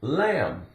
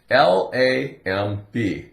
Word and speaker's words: lamb: Here's the word lamb. L-A-M-B. La, A-M, am. Like I am, but no contraction. Just am. La from the L. Lamb. The B is silent.